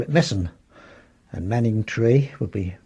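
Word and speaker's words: Manningtree: call it messing and Manning tree would be manant tree very short on the end and the I before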